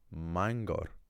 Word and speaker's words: Mangor: So the Welsh word for a town um Bangor can be eclipsed or their version ofclipses under certain circumstances into the word mangor, but they don't keep the B there.